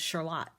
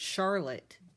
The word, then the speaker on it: Charlotte: My brothers and I all went to high school, and the name of the high school was Charlotte. I didn't know everybody else pronounced that word Charlotte until I was an adult, and I said something weird like Charlotte's Web, and everybody laughed at me.